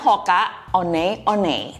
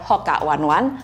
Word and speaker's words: Hoka One One: Tapi sebelum saya melanjutkan, apakah Anda memperhatikan bahwa tadi saya mengucapkan "Hoka O-nay O-nay"? Nah, ini informasi untuk kita semua: pengucapan yang benar adalah "Hoka O-nay," bukan "Hoka One One" atau "Hoka One on One.